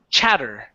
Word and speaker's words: chatter: small pieces that's shatter this is CH chatter shatter almost so place the tongue at the top of your mouth and when you when you say the CH your tongue is touching the top and then it comes